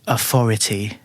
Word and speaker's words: authority: Authority would be the full form. Mm-hmm. And if you were lazy, be probably authority, maybe. Authority, yeah, maybe. T-E. Authority, yeah. I think you have to say the T at the, because it's at the end. But you wouldn't say authority. Authority. I wouldn't say it, but yes, I'm sure some people do.